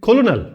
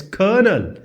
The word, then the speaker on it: colonel: The normal way will be colonel. No, it's colonel. It's pronounced as colonel.